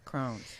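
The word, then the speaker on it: crosnes: so you know we mix how do you spell that c-r-o-s-n-e-s c-r-o-s-n-e-e-s okay crohn's okay and so you uh shred that up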